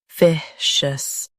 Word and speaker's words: officious: Officious. Stress fi and keep shus soft.